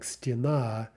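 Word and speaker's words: стена: one direction right if the two-syllable feminine starts with stress on the ending like stena then the plural it'll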